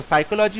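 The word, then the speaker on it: psychology: কোনটা সঠিক উত্তর দেখো সাইকোলজি হচ্ছে অপশন ওয়ান হবে right answer option A সাইকোলজি পি এস ওয়াই সি এইচ ও এল ও জি ওয়াই এখানে পি টা সাইলেন্ট থাকে সাইকোলজিতে তাই অপশন এ হবে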